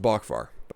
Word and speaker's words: Boockvar: I've heard it pronounced Boockvar.